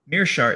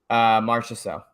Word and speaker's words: Marchessault: Mearshart, is that how you say his last name? Marchessault. Oh, I'm thinking about another guy. Yeah, Marchessault. Getting confused at this point. Let's do it. That's how you pronounce it.